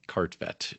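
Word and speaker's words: Kartvedt: It's K A R T Ve DT, but phonetically it's Cartvet is the way the right way to say.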